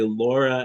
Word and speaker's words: Laura: So most people in Pittsburgh say Laura as rhyming with door.